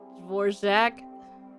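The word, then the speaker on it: Dvořák: So it's Dvorak. Maybe. I got it? Okay, cool. Thank you. There's a skull here. Only stress on the first syllable?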